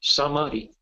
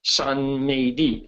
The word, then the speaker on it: samadhi: The Sanskrit word is samadhi. samadhi. Sometimes it's sanmedi, sanmodi. They use 3 syllables.